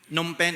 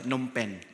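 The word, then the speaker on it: Phnom Penh: Nompen is the capital city. So thank you pastor boy sa pag-pronounce sa insakto ng pronunciation. Uh some people will read it pinals will read it and say it as a numpen. So silent PE.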